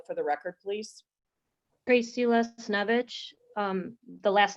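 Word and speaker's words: Lesniewicz: um tracy could you state your name and spell it for the record please tracy les snovich um the last name you want spelled yes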